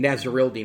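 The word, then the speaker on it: Nasirildeen: out of florida state nazarel dean nazarel dean is how you pronounce that hamsa nazarilla out of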